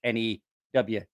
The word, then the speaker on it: Newark: But you also, if you're from that area, you know that it's also not Newark. N-E-W-A-R-K. It's Newark.